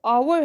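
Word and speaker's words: hour: एन आवर, एन आवर, आवर में पहला एच है, लेकिन हम इसे प्रोनाउंस, इसकी जो प्रोनाउंसिएशन है वो आवर है, तो यहाँ पे इसलिए इसके साथ एन यूज़ हुआ है।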